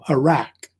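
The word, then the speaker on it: Uruk: city that was called Iraq, which is pronounced the same way, but it's spelled differently, U-R-U-K.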